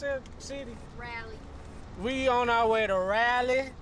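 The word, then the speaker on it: Raleigh: on our way to North Carolina how you pronounce it city Rally we on our way to Rally rally rally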